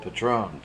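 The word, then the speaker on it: patrón: pay these fees are called Patron pronounced as in the Spanish patrones a Patrone hires his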